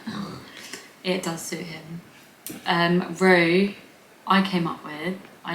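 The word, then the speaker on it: Roo: It's like he is literally Rue, and it's spelt so simply too.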